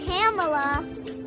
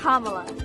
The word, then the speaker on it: Kamala: It's not Kamala. It's not Kamala. It's not Kamala. It's Kamala. Kamala Harris. Kamala Harris. Ô, Fábio, Larissa, não é Camila, não é Câmela, é Kamala.